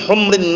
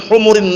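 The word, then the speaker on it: حمر: Laan yahdiallahu bika rulan wahidanirun min humrin naam atau min humurin naam min humrin naam atau min humurin naam min humri bukan humur jangan keliru kalau min humur humur itu jamak dari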